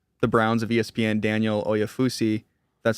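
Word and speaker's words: Oyefusi: a reporter for the Browns of ESPN, Daniel Oafussi, that's how you say his name, said that the Browns are going to stick at 33 to make their pick.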